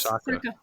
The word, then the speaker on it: Saka: And Saka, the player he put on, I hope I'm pronouncing his name correctly. Yes, Saka.